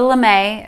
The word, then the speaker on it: lame: It's called a Lemay. It's spelled kind of lame, L-A-M-E.